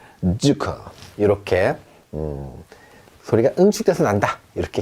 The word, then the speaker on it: Zucker: 주커 이렇게 발음합니다.